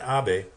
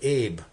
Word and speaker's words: Abe: Trump and Japanese president Abby see I pronounced it right I could have said Abe that's the way he spells it Bobby have been strident